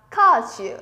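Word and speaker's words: 歌手: Ca sĩ sẽ đọc là kashu. Vẫn là đi xuống. Minasan sẽ no kashu. Kashu, không có trường âm, chúng ta không kéo thành shu dài nhé. Kashu, dừng như thế là được.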